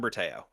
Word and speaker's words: Bertao: Bertau. Yeah, Berteo last name.